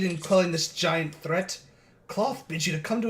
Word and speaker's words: Klauth: Cloth is spelled Klauth.